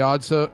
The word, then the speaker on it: (G)odd: and it's weird because it's the G the g is silent g is silent it's the odd the odd show that